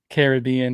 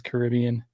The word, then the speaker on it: Caribbean: however you say it if you're talking about Pirates of the Caribbean at Disneyland that's how you say it I think everyone else says Caribbean anyway if you're going